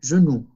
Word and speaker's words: genoux: Le chat vient souvent sur mes genoux. Olvidó que OU se pronuncia U, como nuestra U.